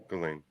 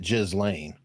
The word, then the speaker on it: Ghislaine: How do you say the name? Ghislaine. Maxwell. Maxwell. Oh, you're copying that, dude. I have a clip of you saying that you say it Jizz Lane.